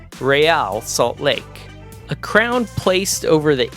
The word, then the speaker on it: Real Salt Lake: lowercase e, capital AL, which is a clever way of pointing the English-speaking fan base toward the correct Spanish pronunciation, Real Salt Lake.